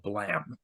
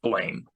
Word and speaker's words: Blame: Or people think No, it's Blame. no, people think it's blame, but it's actually blam. Tsutomu Nihei spelled it Blame with an E, but it's supposed to be pronounced Blam like a gunshot.